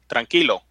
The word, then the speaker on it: tranquilo: tranquilo Sarah tranquilo no say it like the Spanish where OH tranquilo there you go there